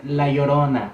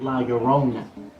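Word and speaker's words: La Llorona: It'sa say laorona, not laurona.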